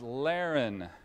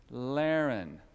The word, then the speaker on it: Larren: children my name is Lehren is anybody it rhymes with Darrin does anybody named Aaron here Lehren three years ago I